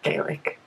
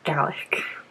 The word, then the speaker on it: Gaelic: And that's specifically Scottish Gaelic, which is pronounced Gaelic, not Gaelic, in case you were confused.